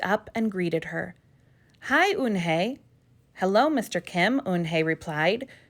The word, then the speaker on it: Unhei: she nodded slowly yes it's pronounced oon hey and it means grace mr kim added unhei joey said slowly and